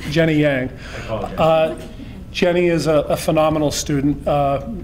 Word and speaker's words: Yang: The G and the Y, G and the I make a Y sound. Thank you, it's Jenny Yang.